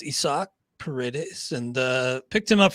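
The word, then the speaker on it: Isaac Paredes: picked up isak paredes i heard the announcers calling him that i was like no i can't be right then i went to his baseball reference page indeed it is uh pronounced isak paredes and uh picked him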